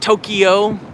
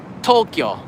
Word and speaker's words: Tokyo: wrong get it right not tokyo tokyo two syllables not three kyo is kyo like kyoto right boom why not asakusa